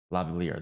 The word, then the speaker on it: lavalier: some Lavier mics for I think that's how you say it, Lavier. I'm probably butchering it. Lavier mics. Let's double check because that doesn't sound right. What? What are you on about? Lavalier, there you go.